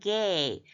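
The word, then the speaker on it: גֵּיא: 자, 이 개를 강하게 읽으면서 요드가 발음이 살아났어요. 보통 때는 안 해도 되는데 여기서는 gay, gay 하면은 in the valley죠.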